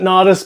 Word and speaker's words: Natas: foron noice and again I pronounce it naice because I grew up skateboarding let's move over to